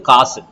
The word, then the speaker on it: காசு: சொல்றோம் பசு அப்படிங்கும் போது இப்ப உச்சரிப்பு தெரியுதா அதாவது காசுங்கும் போது ஆமா அப்ப நம்ம என்ன பண்றோம் அப்படின்னா வந்து பார்க்கும்போது காசு அப்படின்னா அரை மாத்திரையா இருக்கு சரிங்களா பசு அப்படிங்கும் போது